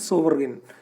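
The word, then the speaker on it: sovereign: But second जो है controlled, जो फ्री इकोनॉमी है, the consumer is सोवरगन, सोवरगन, correct pronunciation is सोवरगन।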